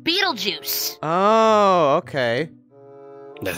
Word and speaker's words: Beetlejuice: it it's named after the constellational star it's pronounced Beetle Juice oh okay that sounds stupid yeah I know